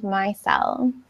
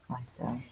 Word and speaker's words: micelle: No, but it's my, like the I is pronounced like with a long I sound. Micelle. Micelle.